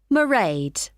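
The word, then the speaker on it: Mairead: do you spell that it's m a i r e a d marade okay got that it's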